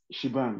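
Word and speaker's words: shebang: what is it saying it's saying shibang is pronounced as shibang right not that this will this is not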